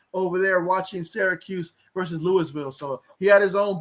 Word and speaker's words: Louisville: of course, 80s had his own barn burner that he was watching over there watching Syracuse versus Louisville.